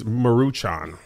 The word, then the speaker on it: Maruchan: Do y'all prefer top ramen or maruchan? It's maruchan. You added all type of letters. What'd you call it? Maruchan. He added all type of letters and syllables.